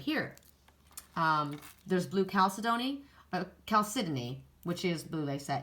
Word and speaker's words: chalcedony: I always say it wrong. I want to call it chalcedony because in Canada I think that's what they do. But here it's chalcedony, I think.